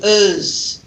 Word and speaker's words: as: We never pronounce the full form of as. We reduce as to uz. So I would say, for example, she's as busy as what? What's the idiom? As busy as a bee a bee. Whoa, sorry. Okay, as busy as a bee, right? So that would actually be pronounced uz.